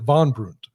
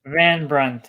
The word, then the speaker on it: Van Brunt: It's David Van Brunt, or is it Von Brunt? How do you say that? Van Brunt. It's Dutch.